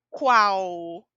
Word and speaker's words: qual: às pronúncias marcadas em quando uma palavra termina em l a pronúncia é u então a pronúncia é qual não se escreve assim